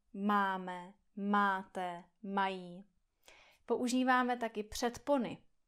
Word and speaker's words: máme: Potom existuje hodně podobné slovo a to je máme. Tady jsou dvě slabiky, dva vokály. A, e. A, e. Máme.